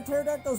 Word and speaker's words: pterodactyl: Why can't you hear a pterodactyl's urination? The pee is silent.